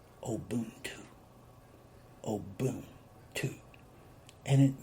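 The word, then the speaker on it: Ubuntu: practice they practice a system that was called obuntu oh boom two and you spell it u n b u t u and it is pronounced obuntu oh boom two and it means that all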